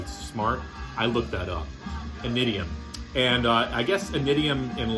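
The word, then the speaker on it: Initium: I believe it's pronounced Inidium. It's a Latin word, and I'm not going to pretend to be smart. I looked that up. Inidium.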